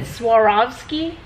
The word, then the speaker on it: Swarovski: I did put in some of these, okay, and I cannot pronounce this. Is it Swarovski?